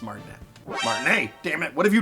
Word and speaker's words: Martinet: couldn't even say his name right it's not martinette it's Martin a hi I'm Martinez and he wouldn't have